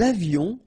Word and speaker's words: avions: Nous avions, final S not pronounced, and then little liaison, nous avions.